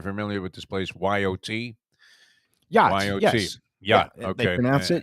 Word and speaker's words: YOT: Yacht. YOT. Yes. Yacht. Yeah, they Okay. pronounce it yacht, and it's owned by Mike And Linder.